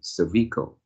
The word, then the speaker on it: cervical: words this one should the stress should be on the first syllable which is cervical and you pronounce as cervical cervical and although it's still